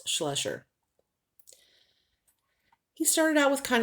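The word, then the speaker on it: Schleicher: and this was steve schlesher i pronounce it a completely different name away but it is pronounced slusher he started out with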